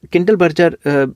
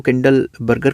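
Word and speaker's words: Kindleberger: अब अब कंडल बर्जर कुछ लोग इसको कंडल बर्गर कहते हैं। कुछ लोग कंडल बर्जर कहते हैं। प्रोनाउंसिएशन अलग-अलग हो सकती हैं।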